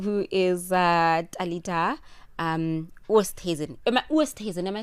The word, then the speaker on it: Oosthuizen: South Africa finalist who is uh Alita um Hazen. Am I Wasen? Am I saying your name right? Yes. Wasen. Yeah. No, you're pronouncing it very well.